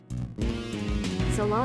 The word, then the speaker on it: Ceylon: I don't drink very many teas, so I'm assuming that's pronounced Ceylon. should drink tea. Salon tea. Yeah, salon. Oh, salon.